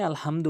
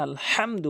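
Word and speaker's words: الحمد: তেলাওয়াত করে আলহামদু বলে কখনোই আলহামদু বলবেন না নামাজ হবে না আলহামদু বলতে হবে হলকের মাঝখান থেকে হাটে উচ্চারণ করবেন আলহামদু লাম লাম জেরে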